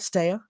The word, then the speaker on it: Stea: Is that pronounced right, Stea?